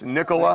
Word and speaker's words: Nicola: And is it I've never pronounced her name right. Nic. It's Nicola.